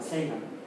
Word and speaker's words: Sagan: Lo pronuncia Sagan porque él nació en Nueva York. Entonces la pronunciación anglosajona, Sagan.